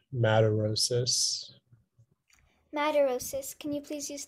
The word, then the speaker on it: madarosis: there any alternate pronunciations it's just the one madarosis madarosas can you please